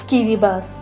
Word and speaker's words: Kiribati: কিরিবাস ইংরেজিতে উচ্চারণ হল কিরিবাতি পানিতে ডুবন্ত এক দ্বীপরাষ্ট